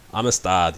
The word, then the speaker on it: Amistad: Our next matchup is Space Cat versus Amistad, I think is how you pronounce that. Amistad. Yes. Spanish for brotherhood.